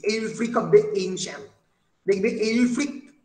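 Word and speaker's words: Ælfric: Saxon poet এর নাম, এইলফ্রিক। এই যে এইলফ্রিক অফ দ্য এনশিয়েন্ট, দেখবে এইলফ্রিক নামটা যখন লেখা হয় ইংলিশে, এই এ ই এই দুটো শব্দ একসঙ্গে উচ্চারণ করা হয়।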